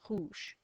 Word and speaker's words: rouge: And this means there's a silent letter, and that is E. So that's rouge.